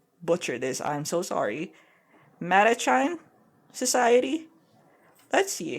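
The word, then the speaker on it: Mattachine: Yeah, how do you pronounce it? Okay, T's. Matachina?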